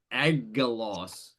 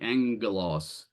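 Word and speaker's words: άγγελος: a nu, it's spelled with 2 gammas. It looks like agelos, but it's actually angelos.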